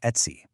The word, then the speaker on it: etc: And that brain is etc, which is pronounced et see.